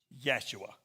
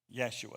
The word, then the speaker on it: Yeshua: He had a brother named Joshua, which is, anybody know how to pronounce that in Hebrew? Yeshua. Yeshua.